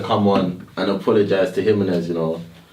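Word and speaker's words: Jiménez: Jimenez. That's it. That's how you pronounce it.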